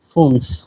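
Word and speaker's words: fünf: 5 কে বলা হয় ফুনফ। 5 এর এখানে উমলাউট আছে, উমলাউট। আচ্ছা, 5 কে বলা হয় ফুনফ, উমলাউট আছে এখানে।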